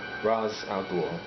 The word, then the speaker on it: Ra's al Ghul: In the end, they're not much for Ra's al Ghul, which is how you pronounce it.